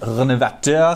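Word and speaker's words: Rénovateur: Now I know it's technically pronounced Renovateur. I actually speak French, but I'm self-aware enough to know that pronouncing it in a French accent is dorky. So I'm just gonna say Renovateur.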